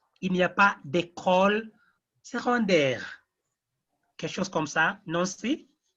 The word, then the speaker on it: secondaire: When we are reading the noun secondary, en français, we read it like secondaire. That C is normally pronounced like G, secondaire.